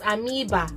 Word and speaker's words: amoeba: Now somebody came to correct me on my YouTube channel yesterday that is pronounced as Amoeba, Abi what.